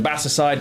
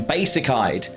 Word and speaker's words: Basicide: a long time and I've always called him Bassside because that's actually what his name is and how it's pronounced. We raided someone once and they called him basic eyed and my whole soul evaporated as I thought, "Oh no, I've been calling my friend the wrong name for multiple years and